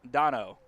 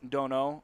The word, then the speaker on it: Donno: His name is pronounced Dominic Donno, not Dono or I don't anything